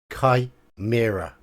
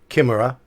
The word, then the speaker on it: chimera: of them all right chimera chimera Kai Mira not Kimura chimera or chimera or